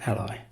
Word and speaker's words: A11y: It's actually A11Y, often pronounced Ally, and is an abbreviation for accessibility.